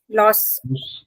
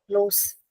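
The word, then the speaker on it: las: गलत, यहाँ पे जब ला लिखा है तो ये भी लास होगा, लोस नहीं होगा।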